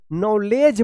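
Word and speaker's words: knowledge: एल ई डी जी ई क्या पढ़ेंगे इसको नॉलेज पढ़ेंगे नॉलेज तो देखिए यहां पे डी और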